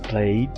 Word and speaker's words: played: también termina en Ed sin embargo para este caso la letra e no suena pero la letra d